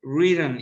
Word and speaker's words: written: Write, wrote, written is in past participle. Okay. Written. La E no se pronuncia ahí no es written.